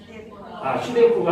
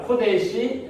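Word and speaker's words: קודש: 우리 성경은 우리는 이렇게 글을 읽지만 히브리어는 어떻게 읽는다 그랬죠? 이쪽으로. 네. 그래서 읽어보시면 뭐라고 읽어요? 슈데코가 아니라 코데시 라 아도나이.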